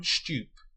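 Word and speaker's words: Stüpp: She is announced on a poster outside the music hall as Lily von Stupp. The film's characters pronounce the name without any change to the vowel.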